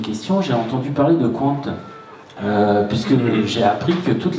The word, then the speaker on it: Qwant: Et là, on vient de parler de Qwant à la radio, sur France Info. Voilà, toute l'administration bascule sur Qwant. Alors ça s'écrit Q-W-A-N-T.